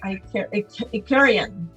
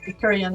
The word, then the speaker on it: Icaria: She is an Icarian, I believe. Icarian is how you say it.